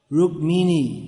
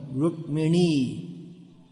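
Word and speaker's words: रुक्मिणी: They're mostly Russians here out of the they must be having their own bag of mispronunciations, which you'll have to find someone else to address all of those. Rukmini, no. Rukmini.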